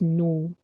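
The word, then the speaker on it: ν: suggested that viscosity nu the pronunciation for this symbol is nu okay and t is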